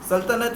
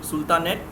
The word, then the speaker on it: सल्तनत: Arabic term ही है, ये इसको एक्चुअल प्रोनाउंसिएशन इसका सल्तनत ही है, बट when an English speaker says this, they pronounce it as सुल्तानेट.